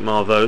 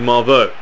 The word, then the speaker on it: Marveaux: Someone said his name is pronounced, I think, Marveaux.